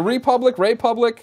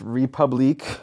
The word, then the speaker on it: Republique: Is it Republic? It's Republique. Okay.